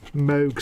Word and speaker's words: Moog: Moog synthesizer. It's not Moog, it's Moog. It's Robert A. Moog. There's another thing we all pronounce wrong.